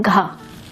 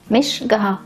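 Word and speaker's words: घ: pronunciation with more air it is pronounced /ghʌ/ it's written like that again /ghʌ/.. not gaha! it is gha there are many other people do this mistake no, not others, it was just me..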